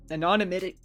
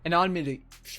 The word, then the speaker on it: anonymity: Anonymic. You're adding too many syllables. Yes. You messed up too a little. Break it in half. Anon. Anonymitti. Ani. There you go.